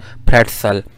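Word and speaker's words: pretzel: फिर प्रेट्सल, ये जल नहीं है इसकी प्रोनाउंसिएशन, प्रेट्सल, ये जो है वो जर्मन से बोरो किया गया।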